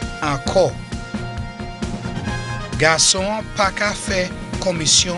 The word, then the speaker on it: Ankò: Enko. A-N-K-O, pronounced as O. Enko.